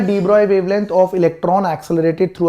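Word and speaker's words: de Broglie: देखिए, तो डी ब्रॉय wavelength, डी ब्रॉय बड़ा मुश्किल हो जाता है यार, हमें तो, मैं तो ब्रॉगली ही बोलता था यार, स्पेलिंग में ही गड़बड़ हो जाए तो इसलिए ब्रॉगली ही बोल लो।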